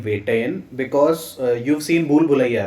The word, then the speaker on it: Vettaiyan: How do I pronounce the name of this film? So the name of the film is Vettaiyan. Vettaiyan means hunter.